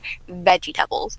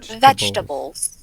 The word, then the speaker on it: vegetables: getting magic bubbles from, but I said VEGI-TABLES. And he went, what are those? I said, broccoli, carrots. He said, you mean... He taught me how to say it, but it just feels like I sound like Google Translate when I say it. Vegetables.